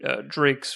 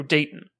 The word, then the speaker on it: Dayton: there may be some humor to it because it's a Jonathan Drake's film, or Dre's, how do you say it? Oh, Dayton.